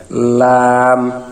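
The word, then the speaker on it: ل: 8 নম্বর মাখরাজ, জিহ্বার agar কিনারা সামনের উপরের দাঁতের মাড়ির সঙ্গে লাগাইয়া লাম। এখানে জিহ্বের একেবারে সামনের আগার কিনারাটা পাতলা হয়ে তার উপরের দাঁতের মাড়ির সঙ্গে লাগবে, লাম।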